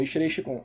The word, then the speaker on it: Ishirei Shikon: Ishirei Seikon é Shikon, Ishirei Shikon.